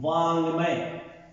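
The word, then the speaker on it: वाङ्मय: इसका उच्चारण होता है आधा न और ग की तरह। जैसे एक शब्द देखें वांगमय शब्द है ये वांगमय। कई बार रूढ़िता के कारण हम इसे वाड़मय या वाड़मय बोल जाते हैं जो कि वर्तनी की दृष्टि से क्या रहता है? अशुद्ध रहता है।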